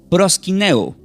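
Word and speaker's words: προσκυνέω: Pero esta palabra, está en el Nuevo Testamento, del griego se pronuncia como prosquineo.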